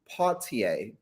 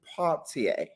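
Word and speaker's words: Poitier: she made mention that harry belavonte and sydney partier paultier because we pronounced his name wrong but i learned how to pronounce his name today paultier um couldn't be with her they told her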